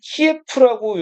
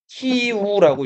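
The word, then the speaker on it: 키이우: 최근에는 이름이 우크라이나 수도는 키에프라고 요즘에는 안 하죠. 요즘에 뭐라고 하죠? 키우라고 읽죠.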